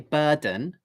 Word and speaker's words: burden: The first syllable is bur. Second syllable is dun. Burden. So the d sound is at the beginning of the second syllable.